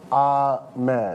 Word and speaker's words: Ahmed: No, it's Ahmed. Yeah, hi. How you doing? Jimmy, how are you? Jimmy. It's pronounced Ahmed.